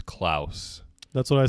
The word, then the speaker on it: Claus: the producers ears that it is not pronounced Claus it's klous that's what I said